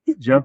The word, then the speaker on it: Zhuo: Joe, I asked you earlier. I cheated. I asked you earlier how to pronounce it.